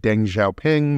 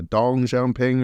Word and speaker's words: Deng Xiaoping: I was corrected recently on I've always said Deng Xiaoping, but I think it's more of a Dong Xiaoping or something along those lines.